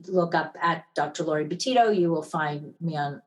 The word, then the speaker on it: Betito: find me on social media my last name is spelled b-e-t-i-t-o so if you look up at dr laurie boutito you will find me on all social media